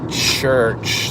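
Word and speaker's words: Xhurch: at a pretty cool place called Church spelled with an X instead of a c um and I think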